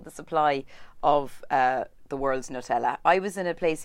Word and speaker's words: Nutella: Remember, we found out that's how you say it properly. Yeah, it's Nutella apparently.